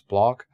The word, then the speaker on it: Bloch: as something called a bloch theory this is from felix bloch i guess in english pronunciation is block this person was a